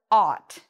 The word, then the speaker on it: ought: has that ah sound and that's the word ought ought means should it's very similar to should